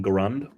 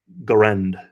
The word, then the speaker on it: Garand: It's pronounced Garand. Is it? I thought it was Garand.